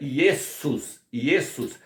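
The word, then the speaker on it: Ἰησοῦς: No grego, o nome Iesos, que se pronuncia Iesus, significa porco.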